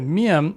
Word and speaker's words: 미음: In 만나서 반갑습니다, the miam is pronounced abruptly, so it can sound like a B.